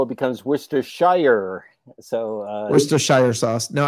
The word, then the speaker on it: Worcestershire: worcester yeah but um because that has got the shire in it so you say worcestershire that's the correct way to say it worcestershire no yeah because